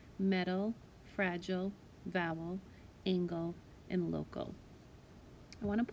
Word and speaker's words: angle: on angle and angel angel has a soft g followed by the e l angle has the hard g followed by the l e so those obviously have